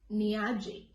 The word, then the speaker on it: Niaje: Niaje. This is actually one of those words that has really strong pronunciation. So you have to mention every single letter. Ni, a, j.